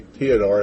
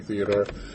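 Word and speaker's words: Théodore: Harding and Jose the Jose Theodor that's actually the right way to say it even though it looks like Jose Theodore um he's going to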